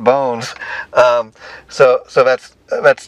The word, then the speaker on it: Bonz: the project um I thought the name was Bond and she's like no no no it's pronounced bones um so so that's that's totally I think